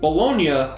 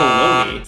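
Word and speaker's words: Bologna: bolognia football club 1909 bolognia not baloney founded in 1909 by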